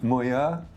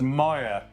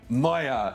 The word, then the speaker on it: Moir: Bay I'm here with Mo oh said that was a kind of French pronunciation it's no it's a Scottish name and it's pronounced Moyer Moyer moer moer Jim Moyer